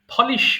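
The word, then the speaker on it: polish: ঢালা four ফোরড Ford পলিশ মানে ঘষামাজা করা আমরা যে পালিশ করি না এই পালিশ কথাটি বলতে বলতে আমরা বাংলা বলে ফেলেছি পালিশ কিন্তু এটা হচ্ছে পলিশ ফলিশ মানে ঘষামাজা করা ভলিশ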